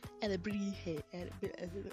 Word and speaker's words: Alebrije: Alebrije, whatever. Alebrije. That's how they pronounce it in the show, okay?